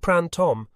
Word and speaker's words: Printemps: The girl's name is spelled Printemps, but you say it Printemps. You do not sound the final pièce, and she can really sing.